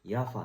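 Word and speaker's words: Jaffa: セルビアで有名なブランドのヤファって読むんですけどこれここに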